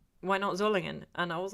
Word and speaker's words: Solingen: Somebody got really shirty with me for mispronouncing for saying Solingen when I was talking about Zollingen, and I'm like, and they were like, you pronounced ENF Hörster correctly. Why not Zollingen?